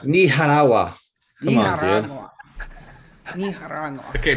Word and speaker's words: Nicaragua: JD, you're saying it wrong because my wife is from there. It's Nicaragua. Nicaragua.